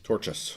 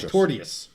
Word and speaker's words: Torchous: He says torches. Torchous. Torchous. It's not Torius.